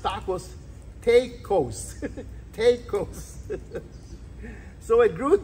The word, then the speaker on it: tacos: of time in fact these are pronounced tacos take Coast so it